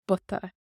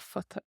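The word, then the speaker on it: bpota: Putta is pot, and on the pot would be air on butta. P takes a B and we lose the P sound, air on butta. So putta becomes butta, not futta.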